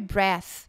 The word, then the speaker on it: breath: Então, a pronúncia é que esse TH no final, então a gente tem que colocar a língua no meio dos dentes. Vai ficar breath.